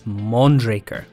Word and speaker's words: Mondraker: we sometimes get wrong we've heard a certain spanish mountain bike browns pronounced mondraker and mondraker but which one is it so we've double and then triple checked and it's mondraker we now hope you're one